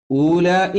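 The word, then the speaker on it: أولاء: ഹാ അന്തും ഉലായിബൂനഹും ഉലായി ഊലായി എന്ന വാവ് എഴുതിയിട്ടുണ്ട് പക്ഷേ ആ വാവ് ഉച്ചാരണത്തിൽ വരാത്ത വാവാണ് ഊലായിക്ക എന്ന് എഴുതുമ്പോഴും അസ്സലാമു അലൈക്കും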